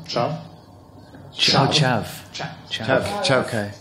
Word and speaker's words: chav: parallel in the UK sphere with the so-called chav, you know, subculture. Did I pronounce this right? Chav?